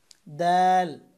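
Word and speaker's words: د: তারপরে হচ্ছে দাল। এই তা যেখান থেকে উচ্চারণ করেছিলাম জিহ্বার আগা উপরের দাঁতের গোড়ার সাথে, এখান থেকে দাল উচ্চারণ করবেন। দাল। দাল। দাল উচ্চারণ করবেন জিহ্বার আগা উপরের দাঁতের আগার সাথে লাগিয়ে। দাল।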